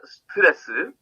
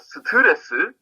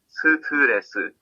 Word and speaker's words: 스트레스: In the word 스트레스, all four syllables are spoken with the same strength, okay? 스트레스. It's not 스트레스 or 스트레스 or anything. It's just 스트레스.